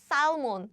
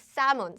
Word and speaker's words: salmon: the pronunciation is not salmon salmon it's salmon salmon so this l sound is silent silent so something like